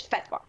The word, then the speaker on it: fatwa: so okay but well the correct Arabic uh pronunciation of it is fatwa okay that that's how they say it but